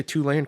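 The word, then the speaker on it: Tulane: host Temple then they have um Houston and tane and uh I said it right right did I say two lane correct yeah they got I said two lane correct yeah baby give me a where's my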